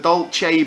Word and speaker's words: Dulce: the first breakdown yes the Dolce base right yeah is how you pronounce it how would you